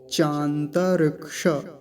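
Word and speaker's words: चान्तरिक्ष: अब ये वाला जो है क्ष, इसका बड़ा ध्यान से उच्चारण करना होता है हमें। क्यों, क्योंकि ये ककार हलंत और मूर्धन्य शकार इन दोनों को मिलके बनता है ये। तो इसका उच्चारण क्या होगा, श, क का हल्का सा उच्चारण आएगा और मूर्धन्य शकार का अच्छे से, श।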